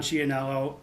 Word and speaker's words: Ciannello: guest with us, Chionello. Welcome to the show. How are you doing? I'm good. Hey, I like the I like the authentic Italian pronunciation of the last name.